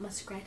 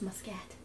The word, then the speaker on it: Muscat: grab em USC ad it's not muskrat its Muscat you sure it's not Mossad like science I don't know it would hey I don't know it's muscat because that makes the most sense phonetically currently I must catch